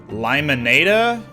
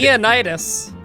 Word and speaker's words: Lymenaida: Like, I don't even know how to pronounce his name. It's Limonada. Liam had Leonidas.